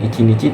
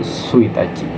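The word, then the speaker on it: 一日: sesuai dengan objeknya kayak kemarin contohnya tanggal ya tanggal itu dia pakai pelafalannya sendiri tanggal 1 bukan icinici tapi suachi ya sama nih di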